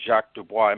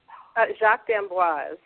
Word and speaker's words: Jacques d'Amboise: know the program was founded by ballet dancer Jacques Dubois my pronouncing the name correctly Jacques d'Amboise Dan woz okay can you tell us a